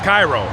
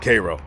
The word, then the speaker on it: Cairo: Egypt Cairo and technically phonetically that's how it's pronounced is Cairo but don't you dare don't you dare pronounce it Cairo to anybody that lives out here because it